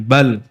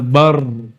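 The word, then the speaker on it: بل: Ini lam dan ro. Cara keluarnya makhrajnya sama, maka kita berhentikan bal ya. Enggak enggak boleh baca bar, enggak boleh ya.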